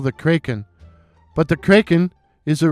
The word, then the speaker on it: Kraken: At the time I wrote this poem, I thought the name of the crypted was pronounced Kraken. It wasn't until Seattle got its National Hockey League team, the Seattle Kraken, that I realized I had mispronounced the name.